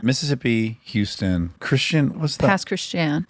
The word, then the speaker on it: Pass Christian: Past Christian. Very rough name for me. It's the Cajun pronunciation of Christian.